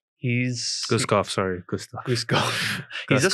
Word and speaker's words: Guskov: I mean, but at the same time, how to pronounce this guy's name? Gustav. Guskov, sorry, Gustav.